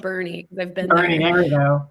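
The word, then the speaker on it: Boerne: out with is bernie i know that bernie texas is pronounced bernie because they've been here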